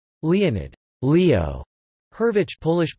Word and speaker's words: Hurwicz: Leonid Leo hurvich polish pronunciation L observe it August 21st 1917 -